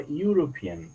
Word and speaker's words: European: always in volunteering is so we say our European not by looking this e we do not